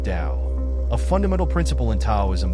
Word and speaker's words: Tao: a guide to understanding the concept of the Tao pronounced Dao a fundamental principle in